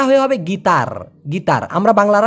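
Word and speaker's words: gitar: হয় গিটার গিটার কারণ এই টি ওরা ট এর মত উচ্চারণ না করে বাংলা ভাষার ট এর মত উচ্চারণ না করে ত উচ্চারণ করে এইজন্য গিটার না হয়ে হবে গীতার গীতার আমরা বাংলা কি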